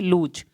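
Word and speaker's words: lose: तो वहाँ पे ना लॉ, लूज, इसको भले ही लिखते लॉस है, लेकिन प्रोनाउंस क्या करेंगे, लूज।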